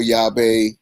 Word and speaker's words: Yave: easy and of course yahweh means ki in spanish but i spelled it phonetically so the whole world could say it and yatu yava yathu